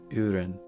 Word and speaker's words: urin: It is said how it is spelled urin.